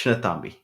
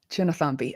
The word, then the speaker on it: Chinnathambi: It's pronounced Chinnathambi. Chinnathambi.